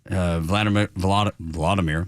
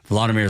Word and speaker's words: Volodymyr: And then you have the Ukrainian president, Vladimir, make sure I say it right, Volodymyr Zelensky.